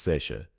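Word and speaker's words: seiche: The Great Lakes region of North America experiences these phenomena regularly with locals referring to them as sea, pronounced seat, sudden water level changes that can empty and refill harbors within minutes.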